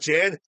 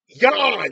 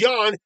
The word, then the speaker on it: Jan: here the no his name is pronounced no that's Jan Oh I'm sorry not Jan Yan it's pronounced Yan this is but